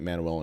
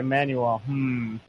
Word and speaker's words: Manuel: You put so much emphasis on the U that I was like, Manuel.